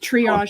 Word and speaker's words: triage: It's pronounced triage. I've been trying to figure out how it's pronounced. I'm like triage.